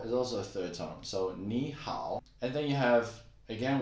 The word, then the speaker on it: 你好: incorrectly and say 你好, 你好. Now you know how to pronounce it. 你好, 你好. Actually, 你 is a third tone and 好 is also a third tone. So 你好.